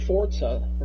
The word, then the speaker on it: Forza: So they have like two separate Forza. I don't know why we keep doing the T. There's no T in it.